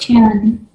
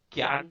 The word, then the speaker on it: cyan: ये क्यान टर्म कहाँ से आया था मुझे नहीं पता, राइट। बट ये प्रोनाउंसिएशन जो क्यान कलर का प्रोनाउंसिएशन है is a bit different. Anyway, so I call it cyan, right?